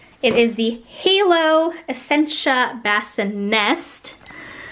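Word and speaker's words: BassiNest: is the halo essentia bassin nest i accentuate the nest because everyone always thinks that i am saying it wrong but it's actually pronounced nest and i just really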